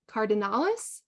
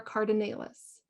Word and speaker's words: cardinalis: silphium carabinthanasia okay and our last one Lobelia cardinalis or cardinalis Lobelia cardinalis so as we wrap up today